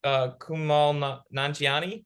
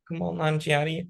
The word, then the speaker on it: Kumail Nanjiani: But the new Ghostbusters sequel just added Kumail Nanjiani. Is that how you say his name? I think so. Kumail Nanjiani and Patton Oswalt to their cast, which is very exciting.